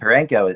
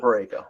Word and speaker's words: Parayko: And Parenko is what he's done is crazy, right? I would say his name properly. As I'm saying, Colton Parayko. Yeah. Parayko.